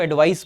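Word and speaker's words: advice: सो वो उसको, वैसे इसके प्रोनाउंसिएशन में फर्क होता है, जब नाउन वाला ये वाला एडवाइस है इसको एडवाइस बोलते हैं, एडवाइस। जब वो वर्ब होती है तो हम बोलते हैं एडवाइज, एडवाइज, एडवाइज somebody and take एडवाइस, ठीक है, थोड़ा सा डिफरेंस होता है प्रोनाउंसिएशन में।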